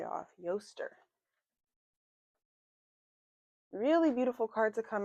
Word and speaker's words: Eostre: And we have growth of uh Easter aster. Let's see how to pronounce her name. Um, Yaster, I was all the way off. Yaster, really beautiful card to come out.